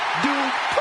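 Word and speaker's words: Dupri: Here comes the talented Maxine Dupree. Michael, it's pronounced Dupree.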